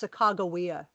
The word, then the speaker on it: Sacagawea: him with Cortes which by the way it's Sacagawea thank you know you pronounce the way most people do it's a